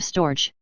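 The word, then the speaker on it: storge: enough the greeks called this love storch two syllables and the g is hard i shall hear call it simply affection my greek lexicon defines storage as affection especially of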